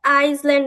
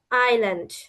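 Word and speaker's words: island: অনেকে কিন্তু এটাকে আইসল্যান্ড বলে। কিন্তু আইসল্যান্ড হবে না। এসটা হবে সাইলেন্ট থাকবে।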